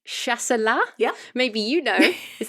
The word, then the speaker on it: Chasselas: there's a wine called, I want to say, Chasselas? Yeah. Maybe you know. Is that right? I wouldn't dare correct your pronunciation after all we've been through, even for wine terms. Yes, Chasselas or Chasselas, but it is the Swiss grape.